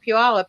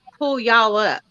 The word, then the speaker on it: Puyallup: But when I first moved out there, I didn't call it Puyallup. I called it Pull Y'all Up.